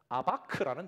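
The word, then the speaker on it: אבק: 그리고 마지막으로 씨름하다라는 히브리어는 아바크라는 단어입니다.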